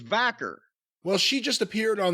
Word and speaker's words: Vaquer: kind of fascinating Stephany VOR if I am pronouncing her name correctly I think it's vaker well she just appeared on the aw forbidden